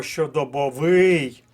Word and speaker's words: щодобовий: переляк це третій склад А ось слово щодобовий має наголос на четвертому в складі хоча й довести